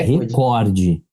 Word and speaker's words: recorde: Qual é a pronúncia da... É recorde.